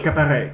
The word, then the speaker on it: qu'apparaît: You say qu'apparaît. Qui apparaît. And not Q, but qu'apparaît. So Qu'apparaît. you pronounce this thing like qu'apparaît. But let's check. I may be wrong. You know, the problem is that we have to spend, I think, like 3 months to just avoid. To just fix the pronunciation, yeah. Exactly. Qu'apparaît. So I was right.